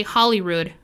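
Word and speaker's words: Holyrood: get the pronunciation correctly they do say hollyrood palace but it's actually uh in reference to the holy rood which is a relic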